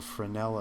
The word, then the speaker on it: Fresnel: There's a thing in water called the Frenel effect. And the closer you are to things looking down, it's it's spelled Fresnel if you ever want to look it up.